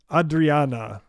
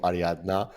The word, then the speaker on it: Ariadna: uh number three uh ad Adriana am I pronouncing it right I'm already getting it wrong jard take take us take us into this one yeah so so this is this is called ariadna um so yeah we